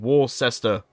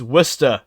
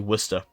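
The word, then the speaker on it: Worcester: to hate pronouncing that most Americans will look at that and think War sester but that is actually oh no no no no no no I'm doing it wrong it's Worster not but yeah most people look at that and say War sester it's actually Worster there you go bit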